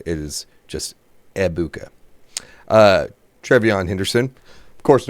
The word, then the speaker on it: Egbuka: Apparently, the G in Abuka is silent. So anytime you talk about Emeka Abuka, it is not Egbuka. It is just Ebuka.